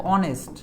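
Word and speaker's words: honest: তারপর দেখো অনেস্ট, এটার উচ্চারণ কি হয়েছে, অ, অনেস্ট, ও, তা ও কি ভাওয়াল সাউন্ড না, তাহলে এন হয়েছে।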